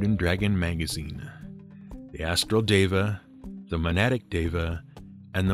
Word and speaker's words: deva: all note our particular pronunciation of the name deva pronunciations in d and d are always tricky you